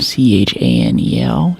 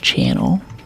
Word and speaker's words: Chanel: That's very classic Coco and C H A N E L channel, but it's pronounced Chanel.